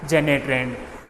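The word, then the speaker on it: Janet Rand: Composed bye जेनेट रैंड, इसका poet का नाम है जेनेट रैंड, ये प्रोनाउंसिएशन है इसका जेनेट रैंड।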